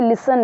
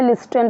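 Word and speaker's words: listen: है अब जैसे कि यहां पे अभी जैसे लिसन है लिसन अ इसे किसी ने लिस्टन पढ़ा या लिसन पढ़ा ट इ दैट विल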